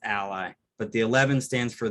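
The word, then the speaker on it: a11y: the 11 in it is oftentimes pronounced it's pronounced ally but the 11 stands for the 11 letters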